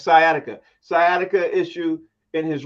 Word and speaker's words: sciatica: Is that how to pronounce it? Sciatica? Yeah, it's sciatica.